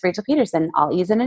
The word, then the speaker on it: Pedersen: It's Rachel Pedersen.